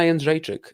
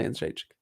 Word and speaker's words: Jędrzejczyk: And Joanna Jędrzejczyk is how that UFC fighter, right, is pronounced.